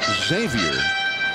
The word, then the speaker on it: Xavier: Nady says that the proper way to say his name is Xavier, but, and it's a name that goes way back in the history of his family, a couple of hundred years.